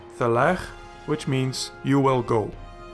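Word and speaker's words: תֵּלֵךְ: Then here is a Shewa under the closing kaf, but it is silent because it is the last letter. Hence, Thelech, which means you will go.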